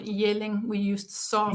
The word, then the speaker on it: Jelling: at a town called Jelling. We used soft. Yelling. Okay, I was close. Yeah. But, Well, you can just those say are- yelling because that's the same pronunciation, basically.